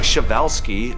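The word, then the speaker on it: Przewalski: So, pronounce something like Shavevelski.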